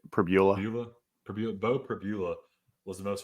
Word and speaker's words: Pribula: I think Beau Pribula, is that how you pronounce it? Pribula? I say Pribula.